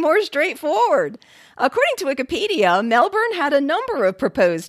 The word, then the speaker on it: Melbourne: victoria ewan cowieson said melbourne can sound a bit like melbourne to non-aussies but if you listen carefully they actually are pronouncing the hour in there it's just quite soft if you were to